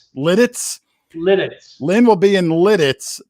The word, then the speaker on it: Lititz: I think it's pronounced Lititz. Lidditz.